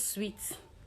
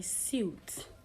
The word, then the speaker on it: suit: And the last word for today is pronounced as sweet. Today he was sweet to the office. So the word is actually suit. Suit, not sweet. Not sweet. Suit.